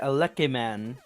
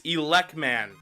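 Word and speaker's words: Elec Man: He said, phonetically, it's written Elekeman. No, it's not. Will you cut it out with the lies? It is Elekman. It is written in phonetic English in both the manual as well as the game itself.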